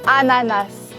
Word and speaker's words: ananas: Ananas.